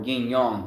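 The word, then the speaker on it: yin yang: Ying yang or ying yong the real the real pronunciation.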